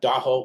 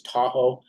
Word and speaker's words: Daho: we want to give the proper way that we say uh daho which is mispronounced as Tahoe and uh that shows